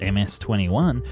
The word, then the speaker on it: MC-21: competitor in their words the mc21-300 pronounced ms-21 the first version to